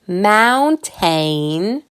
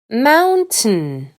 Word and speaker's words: mountain: I don’t say “mountain”, I ignore the A and I and say “mountin”.